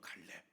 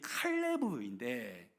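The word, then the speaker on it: כָּלֵב: 갈렙. 이름이 갈렙. 이 갈렙이라는 이 이름의 히브리 언어로 의미를 따져보니까 그게 무슨 말이냐면, 원래 히브리 발음이 칼레브인데 이게 개 매춘부 노예라는 의미입니다.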